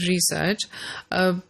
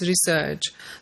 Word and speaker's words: research: For certain words, for example, the word research, the British English, in British English you would pronounce the word research, stressing the first syllable, whereas in American English it's research.